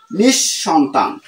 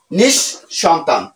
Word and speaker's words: নিঃসন্তান: ব্যঞ্জনটি দুবার উচ্চারিত হয় পদের মধ্যে বিসর্গ থাকলে বিসর্গ পরবর্তী ব্যঞ্জন বর্ণটি দুবার উচ্চারিত হয় তো এখানে বিসর্গ পরবর্তী ব্যঞ্জনটি আছে ক তাহলে এর উচ্চারণ হবে কি অতঃপ পর অতঃপর অতঃপর দুবার উচ্চারিত হইছে তাহলে এখানে কি হবে নিশ শেষ নিঃশেষ তাহলে এখানে নিঃসন্তান নিশ সন্তান নিঃসন্তান দুবার উচ্চারিত হবে তাহলে এখানে অন্তসা